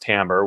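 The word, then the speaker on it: timbre: about t IM BR e you know it's pronounced Tambor which i think is a little bit weird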